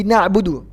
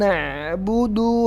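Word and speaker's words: نَعْبُدُ: membaca ayat ini di nabudu na'budu kebanyakan memanjangkan dalilnya nah Buk iyyaka nabudu wa netbook 2 nah kenapa-kenapa kok ada Mad ada panjang di dalam nabu 2031 Kesalahan Yang bener gimana neh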